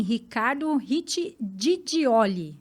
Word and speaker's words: Ricardo Gigioli: Sim, Ricardo Riccidigioli. Falei certo? Certíssimo. Então tá bom.